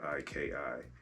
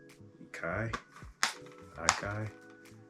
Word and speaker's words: Iki: It's spelled I-K-I. Ikai?